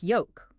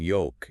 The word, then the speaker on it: yolk: We also find difficulty in staple foods like yolk, the round yellow part in the middle of an egg. Just like salmon and almond, the L in yolk is silent.